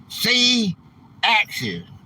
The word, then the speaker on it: C-Axis: It's pronounced C-Axis for being a great American patriot.